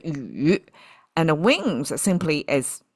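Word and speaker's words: 羽: It's pronounced as a yu, and the wings simply is like a pair, right?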